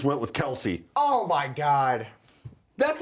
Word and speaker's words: Kelce: Yeah, he said it's Kels, but everyone calls us Kelsey, so we just went with Kelsey.